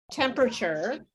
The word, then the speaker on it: temperature: um temperature temperature uh when we say temperature we often reduce the sounds the number of syllables so it sounds like temperature like that temperature sorry uh temperature so that's how you would say that temperature um when we say